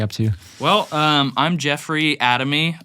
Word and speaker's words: Adami: Well, I'm Jeffrey Adami, or Adami in the correct pronunciation. Is that the correct pronunciation? Yeah, Adami. This whole time I've always said Adami. Well, we just switch between the two. I'd say Adami a lot. Not Adami.